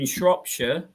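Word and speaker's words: Shropshire: there are this Jude who lives up in shopshire just that's how you pronounce it be not being rude um then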